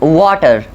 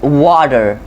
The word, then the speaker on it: water: first one is that when you find a t between two vowels it oftenly sounds like as a d so an example is that we don't drink water we drink water okay now you find